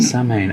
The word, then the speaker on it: Samhain: It's a Celtic word. Samhain. Samhain. Oh! It means the Lord of the Dead. The end of summer. The festival of Samhain. Everyone mispronounced it incorrectly.